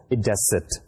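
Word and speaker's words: id est: So we use that is I dot E, and I dot E actually stands for idecit. I for id and E for est, we pronounce it as idecit.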